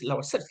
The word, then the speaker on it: Lavoisier: En esa comisión estuvieron, entre otros, Benjamin Franklin, científico norteamericano, Pierre Lavoisier, que es Lavoisier, que se pronuncia así, que es uno de los biólogos, ¿no?